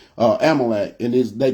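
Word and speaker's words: Amalek: the the nation of uh yeah Amite um Amal I'm saying it wrong amalec and this they called the amikit that's why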